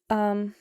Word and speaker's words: Belle: Not Bella, Belle.